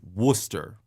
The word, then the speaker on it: Worcester: So there's a city called Worcester. That's how they pronounce it, but that is not how they spell it.